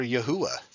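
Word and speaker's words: יהוה: I mean, I usually say Yahweh, but I mean, there's a great case for Yahuwah. That's how you pronounce it, is Yahuwah.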